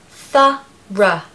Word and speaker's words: thorough: The stress is on the first syllable, and we need to have a schwa on the end, so it's just ra, thorough.